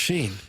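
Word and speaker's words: Schenn: Braden Sheen see there it is. It is pronounced Sheen.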